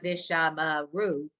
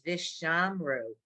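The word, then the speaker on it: וְשָׁמְרוּ: Visham, it's not Vishamaru. We know that word. It's Vishamru.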